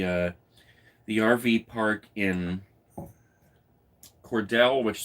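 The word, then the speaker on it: Cordele: the rv park in cordell which somebody told me is pronounced cordial georgia and we had that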